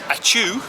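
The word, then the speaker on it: ačiū: informal high and then achoo which i can definitely remember because it reminds all us english folk of sneezing and atu means thank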